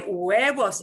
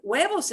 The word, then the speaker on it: huevos: It's spelled with an H, but we don't say it.